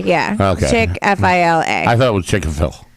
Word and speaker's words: Chick-fil-A: No, I think it's Chick-fil-A. Yeah. Oh, it is? Chick-fil-A. Yeah. Okay. Chick-F-I-L-A.